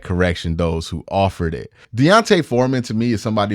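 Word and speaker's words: D'Onta: I've been mispronouncing it I thought he was just Dante it's Deonte foran thank you guys for that correction those who offered it Deontay Foreman to me is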